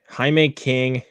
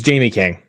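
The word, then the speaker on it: Jaime King: John Lemon, Billy Zayn, Jean Loveit, Haime King or J or or Jamie King. I'm I'm I don't know if I'm pronouncing it right or not. Frank Salone and Robert Davi are amongst the cast for Oh, it's it's Jamie King.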